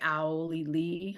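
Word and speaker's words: Auli'i: Janice is played by Owly Lee, I think is how you say it.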